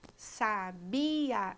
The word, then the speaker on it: sabia: aos exemplos veja aí a palavra sabia sabia é um hiato porque eu tenho o i e o ar que são duas vogais que são pronunciadas em sílabas separadas já a palavra sabiá